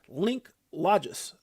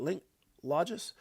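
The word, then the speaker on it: Linklogis: Chinese fintech giants Link Logis, that's how you say it, Link Logis, is putting its $1 trillion supply chain finance platform on the XRP ledger.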